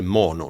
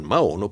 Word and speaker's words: Maono: Settimana scorsa abbiamo parlato di questo microfono, ovvero del Mono, perché si legge Mono, non Maono, PD100X, insieme al Neocaster G1.